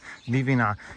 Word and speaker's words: Livinhac: That's the English way to say it, Livinhac. How would you say it in French? Livinhac. You don't pronounce H's or usually the last consonant.